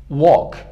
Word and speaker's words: walk: قرار گرفته تلفظ میشه، اما در مثال walk تلفظ نمیشه.